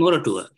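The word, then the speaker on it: Moratuwa: However, I also teach at the University of Moratura. Am I pronouncing it right? Moratura? Yeah, Moratura. Yeah, that's right.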